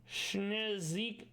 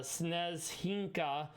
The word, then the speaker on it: Snezhinka: Schnezik... I'm saying it wrong. It's Snezhinka, which means snowflake.